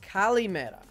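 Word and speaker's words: καλημέρα: would make it fun it's pronounced Kali Mara and it means good morning in Greek oh okay hold on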